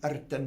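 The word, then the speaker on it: Rtanj: And when I got to the top of Erten mountain, I have to say it like that because that's how you say it.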